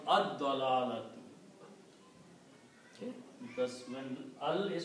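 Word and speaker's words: الضلالة: And when you pronounce ad-dalalatu. Okay? Because when al is put, then one dhamma goes away. And also you do not pronounce al-dalalati because dot changes the sound of lam.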